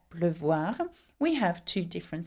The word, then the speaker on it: pleuvoir: And we keep the sound E because in pleuvoir it has two syllables, one which is closed up, pleu, and voir, the